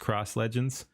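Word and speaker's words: XRoss Legends: Cross Legends, spelled X-Ross Legends. I always like to, it says back there, I didn't even see it's got his name there, but yeah, I always like to spell it out too so people can find him. But yeah, it's pronounced Cross Legends.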